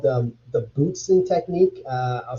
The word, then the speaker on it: Bootzin: I guess the best way to sort of describe that is there's this technique called the Bootsin technique. I'll spell it Bootzin.